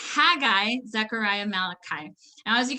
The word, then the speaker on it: Haggai: a cook zephaniah so instead of saying haggai we're gonna say haggai because that's not even phonetically correct so it's haggai zechariah malachi now as